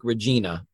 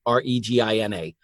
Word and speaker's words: Regina: And if you're not familiar with Canada, Regina is spelled like Regina, Regina. So by all means, take a listen.